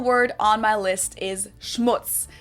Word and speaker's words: Schmutz: And last but not least, the final word on my list is Schmutz. This one is pronounced and used the same way in both languages and it means dirt.